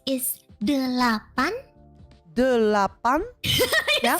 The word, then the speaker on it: delapan: And for 8 is delapan.